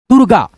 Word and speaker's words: दुर्गा: जिस अक्षर पे ये मात्रा रेफ का लगेगा उस अक्षर से पहले इसका उच्चारण र में हो जाएगा। दूरगा दुर्गा।